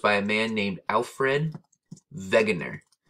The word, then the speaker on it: Wegener: And it was first proposed by a man named Alfred Vegner. His name last name starts with a W, but he was German. And so the W is actually pronounced like a V, like vegger.